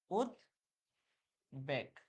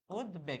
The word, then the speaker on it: উদ্বেগ: কিন্তু এই শব্দটা যদি আমরা লিখি উদ্বেগ, উদ্বেগ, এখানে কিন্তু ব ফলার উচ্চারণ হচ্ছে, ব ফলার কিন্তু, এই যে ব ফলার কিন্তু উচ্চারণ হচ্ছে।